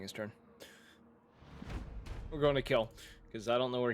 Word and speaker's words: Kil: his name is kill I thought you're just mispronouncing quill no his name is kill it is k i l kill uh family name you